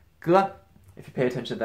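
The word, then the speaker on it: 哥: G, pronounced g.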